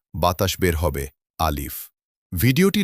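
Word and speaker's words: ألف: প্রথম হরফের নাম হলো আলিফ আলিফ দেখতে লাঠির মতো সোজাসুজি একটি টান আলিফ উচ্চারণ করতে হলে আপনাকে উপরের দুটি দাঁত নিচের ঠোঁটের পেটের সাথে লাগাতে তাহলে আলিফ আদায় হয়ে যাবে।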